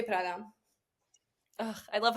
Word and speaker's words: Prada: How do you say it? Prada. Prada. No Okay. Prada. No Prada. Prada. I can roll my R's, but it sounds so pretentious to say Prada.